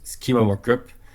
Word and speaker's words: schema markup: Du coup, c'est schéma markup. Comment le prononcer? En anglais, ce serait plus schema markup.